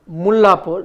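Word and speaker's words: Mullanpur: Punjab Kings and the new stadium mapor that's the correct pronunciation mullur has proved to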